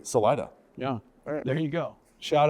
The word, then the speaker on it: Salida: That's how we pronounce it. I know that technically it's Salida. Yeah. But no, everybody there says Salida.